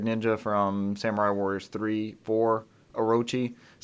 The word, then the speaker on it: Orochi: Orochi. I don't know. I don't think you roll the R. Probably not. That is usually the R sounds more like an L in Japanese.